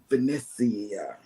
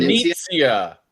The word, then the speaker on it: Venezia: I know that you're on the Venecia. Mhm. Venetia. You got to say it like that, John Hill. said. Venezia.